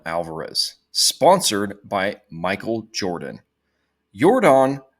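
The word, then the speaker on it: Yordan: sponsored by Michael Jordan yordon is not spelled the same nor does it sound the same as Jordan and Jordan was bad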